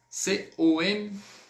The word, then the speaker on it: compter: A gente não vai pronunciar o P. O P ele vai ficar mudo.